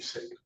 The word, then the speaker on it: Singh: name would be Kwarin, last name would be Singh. Singh. I'm sorry for that. Apparently this council Joanne Carey for the people. Thank you. We have the murder in the death of Mr. Singh and he's your seated to my right as